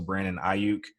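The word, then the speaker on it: Brandon Aiyuk: Also, Brandon Ayuk. I actually said that right because I looked up the pronunciation.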